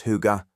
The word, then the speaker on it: hygge: Danish and Norwegian, pronounced Hygge, and yes, it has genuinely entered English usage in recent years. Hygge is the feeling of coziness, warmth and contentment